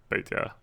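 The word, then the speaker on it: Petya: I think Peta is the way you pronounce it.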